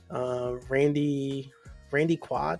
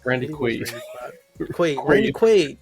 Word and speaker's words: Randy Quaid: Randy Quaid, was it? Randy Quaid. Randy Quaid. There we go. See, sometimes I mispronounce things, y'all.